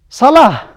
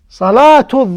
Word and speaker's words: صلاة: So like here, salah. You hear that? Salah. It ends with ha. Salah. If I would like to add another word here, Salatul Dhuhr. You see how it pronounced? It pronounced as a ta. Salatul Dhuhr. Salatul Dhuhr. But if you would like to say it just this word, just the salat, so it is salah as ha.